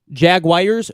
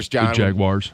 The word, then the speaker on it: Jaguars: it this way Jaguars Jaguars Jaguars Jaguars Jaguars yes there's no I in there jaguars it's a common thing I think that people say it like that jaguars I've heard it